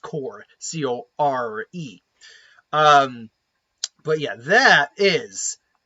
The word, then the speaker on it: Corps: That is the Lantern Corpse. I think I keep saying corpse, but it's even though it's spelled C-O-R-P-S, it's actually pronounced core, C-O-R-E.